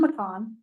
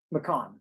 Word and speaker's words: McCaughan: So I do apologize because it looks like it reads differently, but it's McCon, correct? That's correct.